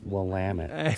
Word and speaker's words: Willamette: The Willamette. The Willamette. It's Willamette, so people can say it right.